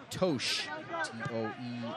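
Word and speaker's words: Totsch: - Transylvania University let's played back to Shaun toch SH is the way you pronounce it is spelled t OT SCH and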